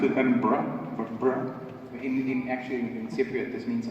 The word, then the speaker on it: Edinburgh: Anyway, we're in the University of Edinburgh, as we learned to pronounce it, Edinburgh.